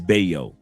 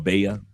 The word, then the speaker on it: Valle: Like ours is Bayo. It's spelled like valley, but you pronounce it as Bayo or Baya.